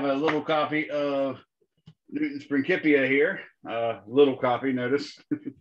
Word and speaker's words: Principia: was written in latin that's why we pronounce that word principia as opposed to principia uh because there is no soft k or c sound in latin so it's the newton's